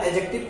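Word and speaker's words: adjective: एडीजे जब भी आता है ना तो डी साइलेंट हो जाता है, डी को नहीं पढ़ा जाता, यानी कि ये क्या है? एडजेक्टिव है, एडजेक्टिव नहीं है, एडजेक्टिव मिस प्रोनाउंसिएशन है।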